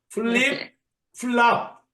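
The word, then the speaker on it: flip-flop: 너구리님음 한번 따라서 해보세요 플립 플랍 아 아닙니다 이거 프 발음은 히읗 발음이 조금 들어가야 돼요 플립 플럽 예 자이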